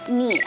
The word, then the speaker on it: 啮: 莲的亲，还问了大家这个字怎么念，啮，好，啮齿类的啮。